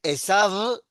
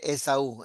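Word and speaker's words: עשו: sería Esav, pero se lee Esaú. Esta Bab final siempre es U.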